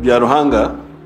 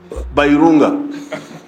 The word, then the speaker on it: Byaruhanga: There is one journalist of BBC, but BBC cannot pronounce her name. She's called Byaruhanga, but BBC always says Bairunga.